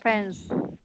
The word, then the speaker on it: friends: Oh, the IE is pronounced like an eh sound. And friends.